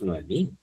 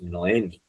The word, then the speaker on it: Noemi: Entonces yo le decía a mi alumna, ella un poco así se dio cuenta, decía, "Tú no te llamas Noemí, tú te llamas Noemi."